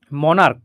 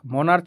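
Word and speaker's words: monarch: কর এখানে এমও এন এ আর সি এইচ উচ্চারণ কিন্তু মনার্ক মনার্চ নয় সুতরাং ক উচ্চারণ হচ্ছে সুতরাং এখানে এস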